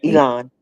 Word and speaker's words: Elan: Elon School is another place that was is am I pronouncing it right? Elan school. Elon is Elon.